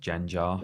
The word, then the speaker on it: Gengar: powerful move doesn't it it's actually pronounced jan jar sorry jam i played